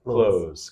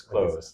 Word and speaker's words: clothes: go over the pronunciation close close just like close the door we don't really pronounce that T and H so much so it's close yeah wear your clothes